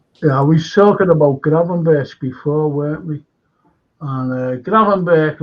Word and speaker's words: Gravenberch: No, I've heard that it's pronounced Gravenberch. It's in the Dutch tongue, it's Gravenberch. You don't say the ch in Dutch. It's Berch. Gravenberch. Yeah, sounds more like the word Berch. B-E-R-K. Gravenberch than Birch in the Dutch tongue.